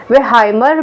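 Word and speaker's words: Wertheimer: और इनके साथ थे मैक्स वर्थाइमर, ठीक है ना, जिनको हम वेहाइमर भी कहते हैं जर्मन प्रोनाउंसिएशन के हिसाब से।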